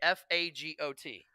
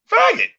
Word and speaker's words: Fagot: Fagot. Faggot. That is not how you say it.